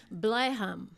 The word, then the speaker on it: Blijham: But tomorrow night, for those in the Netherlands, in Blijham. Yes, it is pronounced good.